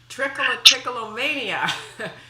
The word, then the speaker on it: Trichotillomania: It's called Trichotillomania. So and thank you for pronouncing it that way, because it's one of the secrets of being perceived as an expert.